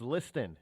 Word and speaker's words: Liston: yes I know it's it's you know like you listen but it's Liston is how it's pronounced